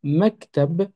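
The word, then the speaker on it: مكتب: donc c'est toujours lié si je prends donc toujours cette racine ici de kataba et que j'ajoute devant juste le son ma et bien à ce moment-là ça se prononcera maktab on retrouve toujours hein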